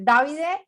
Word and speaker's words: Davide: Davide, Davide, Como lo dijiste primero está perfecto, Davide.